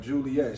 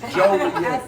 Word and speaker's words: Joliet: Y'all know I'm from New York, so when I first came out, I used to be like Juliet. She like, no, it's Joliet.